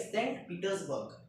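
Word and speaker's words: Saint Petersburg: सेंट पीटर्सबर्ग ये अच्छा नाम है। अच्छा नाम क्या होता है? ये करेक्ट प्रोनाउंसिएशन है कि सेंट पीटर्सबर्ग।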